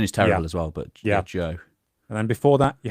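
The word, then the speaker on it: Zhou: Joe dynasty, uh, spelled Z H O U or Cho Dynasty. I I my Chinese pronunciation is awful. Joe is right. I think mine is terrible as well, but Joe.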